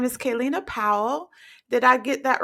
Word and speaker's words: Kellina: guest with us excuse me her name is kaylina Powell did I get that right yes you